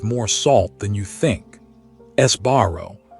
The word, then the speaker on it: Sbarro: Esbarro, often mispronounced as sparrow, used to dominate mall food courts.